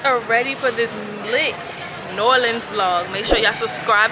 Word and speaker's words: New Orleans: I'm in New Orleans.